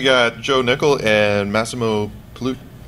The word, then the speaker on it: Pigliucci: Joe Nickell and Massimo Pigliucci. Close, Pigliucci. I have a vowel in the end of my last name too, but you know. The G is silent, right? That's right. As in yeah. Modigliani.